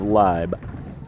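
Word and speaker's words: Laib: Rebound into the hands of Leib. L-A-I-B is the way her last name is spelled, pronounced L-I-B-E.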